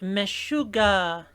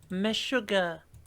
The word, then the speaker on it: Meshuggah: Last band, Meshuggah. I bet that's pronounced exactly how it sounds. Meshuggah. Sounds like another way of saying my sugar, but from Yorkshire. In the UK.